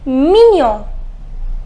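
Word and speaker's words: mignon: say it is menial the pronunciation is minion minion which means cute not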